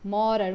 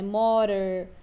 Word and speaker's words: modern: Americanos falam mais modern, modern, como se fosse um R que a gente tem aqui no português, né? Modern, modern.